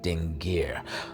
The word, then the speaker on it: dingir: Determinatives aren't pronounced, but if you were to pronounce this sign, if it was in a different scenario, you would pronounce this dingir.